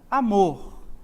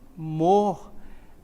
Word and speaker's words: amor: está a sílaba tônica amor qual é a sílaba mais forte amor é exatamente aqui môr é a sílaba mais